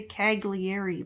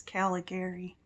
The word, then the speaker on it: Caligari: i'm saying it right i always want to say cagliari but i think it's caligari and that's uh i think